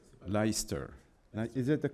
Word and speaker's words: Leicester: Je ne sais jamais comment ça se prononce. Leicester.